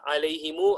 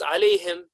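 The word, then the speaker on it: عليهم: Quran of course you wouldn't say RA Hima alayhimu i really he me because clearly there was no fetch a curse for obama you would read it as I lay him and therefore you're pronouncing it with sukoon and so the sukoon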